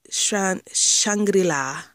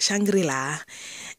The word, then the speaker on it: Shangri-La: Sorry, Twice, Knock Knock and Signal and Vic Shangri-La. That's how I pronounce it. Shangri-La.